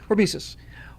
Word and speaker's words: hormesis: So, the short form is, when NASA did the calculations, I got the pronunciation wrong. Hormesis, hormeosis, same thing. Hormesis.